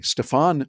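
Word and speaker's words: Stephan: well another one was steven spence i had not heard or excuse me stefan spence spelled s-t-e-p-h-a-n he pronounces it stefan spence he's based over in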